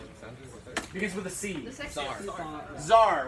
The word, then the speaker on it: Tsar: for the seats our Tsar right but to see is silent sometimes you'll see it with a seat or a tea so Tsar Nicholas all right so